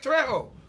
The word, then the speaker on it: Trejo: them jay's james messed me up so properly pronounce your name for the people yeah so i said it right trejo yeah yeah yeah okay all right i didn't